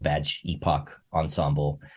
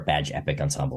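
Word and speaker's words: Badge Époque Ensemble: a great project called badge Epoch Ensemble or badge epic Ensemble is how you're supposed to say it although it's spelled weird but um but he's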